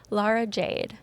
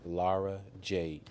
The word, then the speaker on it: Lara Jade: Laura Jade. Lara Jade.